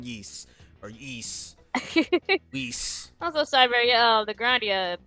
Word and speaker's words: Ys: oh i did it always always called yeast yeah it's yeast even though even though i know there's a y and an s and it's called geese or yeast also cyber uh the